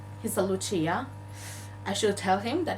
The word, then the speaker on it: Lucia: chat, and he said, Lucia, you had a question. And I was like, all right, he's a Lucia. I should tell him that it's not pronounced like that and it's pronounced Lucia, but we don't have time.